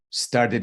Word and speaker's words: started: you mean my dreams started off yes start it up there's an extra syllable start it off start it off so that t sounds like a d started started off started